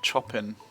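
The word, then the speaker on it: Chopin: read it then kate chopping middle school shopping you pronounce it the same way as the composer well let's just pretend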